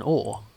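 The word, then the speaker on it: Hoare: I think someone said you should pronounce it like an Or. As an oar. Yeah, like the same way you pronounce Or. You row a boat with an oar.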